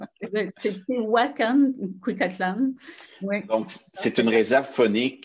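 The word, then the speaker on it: Tehuacán-Cuicatlán: Là, je vais essayer de le prononcer correctement. Tuacan Cuicatlán. C'est Tehuacan, Cuicatlán.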